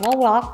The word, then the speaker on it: vlog: ไป ดู กัน เลย V l o g ออก เสียง Walk มา จาก คำ ว่า วีดีโอ กับ คำ ว่า Blog เป็น การ นำ เสนอ